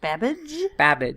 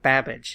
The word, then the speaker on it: Babbage: Right, because I thought computing with Babbage. There's a whole different YouTube channel back in the day. Rhymes with on cabbage.